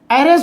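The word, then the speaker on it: heiress: सी is dash एरेस, एरेस जो होगा उत्तराधिकारी के लिए, टू द थ्रोन, तो यहाँ पर ई से एच साइलेंट हो जाता है, सो एन का यूज हो जाएगा।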